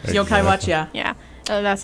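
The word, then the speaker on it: Yo-kai Watch: And Yoko Watch. Yokai Watch, yeah. Yeah, that's how you pronounce it.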